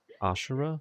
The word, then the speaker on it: Ashera: okay wheny just say asara right yes yeah asara AAR it it's spelled Ashera Asar like ash got it Ashera so or five steeds